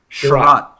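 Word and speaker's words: Chiarot: Sure, he added Chariot, or how do you pronounce that name? I have trouble with that. Sherratt.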